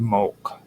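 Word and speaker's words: molk: Um now there uh are steely inscriptions in the tophitsu that often mention mulch uh which is mlk. The best way to pronounce it in our terms is m o l k mo.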